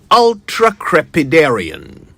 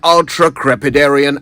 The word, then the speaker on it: ultra-crepidarian: Ultra-crepidarian.